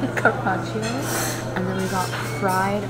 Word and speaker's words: carpaccio: Beef, how do you pronounce it? Carpaccio. Carpaccio.